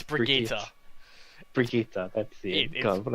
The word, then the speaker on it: Brigitte: Do I have to pronounce this properly, or can I say Bridget? You can say Bridget. Brigitte.